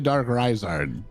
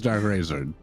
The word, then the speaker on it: Darkraizard: You know, It's actually Darkraizard. Darkraizard. Okay. But yeah, everybody usually just says Darkraizard. Okay. So that's absolutely fine.